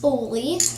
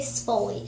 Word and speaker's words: spoolie: It's pronounced spoolie, because I said it's spoolie, but I always say spolie.